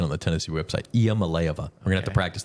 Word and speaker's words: Iamaleava: I'm looking at the pronunciation on the Tennessee website. Iamaleava.